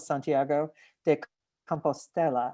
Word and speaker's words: Santiago de Compostela: And Fred, you described this moment where you walked into the plaza and saw the Cathedral of Santiago de Compostela.